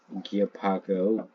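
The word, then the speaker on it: Guipago: or and Via uh gapo gapo that's how you say it also know known as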